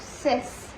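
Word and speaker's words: six: Here this is 6, and this is, in French we do not call it 6, but we call it cis.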